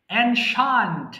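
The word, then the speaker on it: ancient: brilliant মেধাবী stupid মূর্খ এনশান্ট এটা আমরা সবসময় সারাজীবন এনসিয়েন্ট বলে আসছি অথবা অনেকে এনসিয়েন্ট বলে এটার সঠিক উত্তর হচ্ছে এনশান্ট এনশান্ট এনশান্ট পুরাতন মডার্ন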